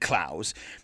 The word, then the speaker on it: Clowes: his name is pronounced it could be clothes it looks like clothes but i always said klaus because it seemed like